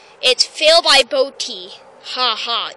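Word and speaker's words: Bodye: It's fail by Boaty. Ha ha. Even though his name is spelt B-O-D-Y-E, he spelt it B-O-A-T-Y, and that's okay.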